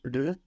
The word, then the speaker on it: leur: Non, le. It's EU, no, like in je peux, with an R on the end, which we hear, le.